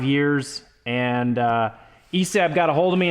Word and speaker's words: ESAB: is everything Elliott and this is an esab or esab I mean there's no o but I have heard people call it esab I'm going to pronounce it esab because it's an a esab 285i you can see